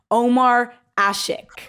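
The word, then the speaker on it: Ömer Aşık: in his last name there's like a letter I've never seen before but I think you pronounced his name Omar ashik oh oh yes yes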